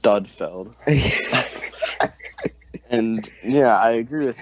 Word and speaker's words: Sudfeld: actually pronounced Studfeld.